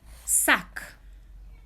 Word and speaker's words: sac: Sac. You see I pronounce the C at the end?